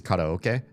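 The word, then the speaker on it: karaoke: You can pronounce it however you want. As long as I hear the K at the beginning and the oak somewhere in the middle, I probably know what the heck you're saying.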